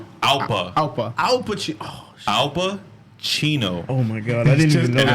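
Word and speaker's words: Alpa Chino: Oh, Alpa, Chino.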